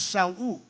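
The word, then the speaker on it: שאול: The Hebrew word for Saul, the Hebrew pronounce him as Shaul.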